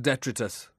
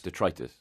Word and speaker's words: detritus: like the other day I said d'etre tiss all right they went bonkers detritus well I say dead